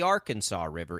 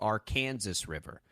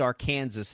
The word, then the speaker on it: Arkansas: Kansas it's not the Arkansas River it's the Arkansas River there's an Arkansas city it's very real it is pronounced our Kansas in this state that'll you'll you'll win